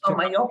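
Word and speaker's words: Malloco: town called Maloco, which Mayoko. in my primitive Spanish is, if you separate the word, it's crazy Maloco. bad. Yeah, so it's Mayoko. It's spelled like the 2 L's sound like a Y.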